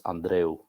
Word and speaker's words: Andreu: Did I pronounce Andrew right? What is the origin of Andrew? So it is of northern Spain origin, even though I am from Cuba. And in Spanish, it's Andreu. Andreu.